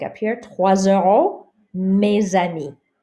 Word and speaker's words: trois euros: But here, trois euros. Trois euros. The S sounds like a Z.